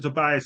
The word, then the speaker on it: Tobias: Tobias is here, Attorney Tobias, I'm sorry, is here. That's okay. Tobias, how I pronounce it again, please? My family pronounces it Tobia, but it does, I